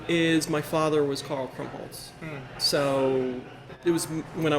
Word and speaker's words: Krumpholz: So I must be chatting with Karl Krumpholz. Krumpholz. Yeah. Thank you. You don't pronounce the P, but you add a T.